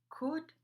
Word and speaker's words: could: with words like Google sometimes L is not pronounced for instance could or have update your